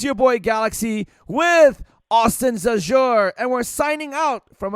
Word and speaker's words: Zajur: And ladies and gentlemen, if you want to reach Austin, go to @Austin Zajur. That's how you pronounce it, but it's Zajur.